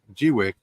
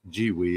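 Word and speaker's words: Gweike: And I've done lots of acrylic on the G-Wick, which, by the way, is pronounced G-Wee, is the official pronunciation of that.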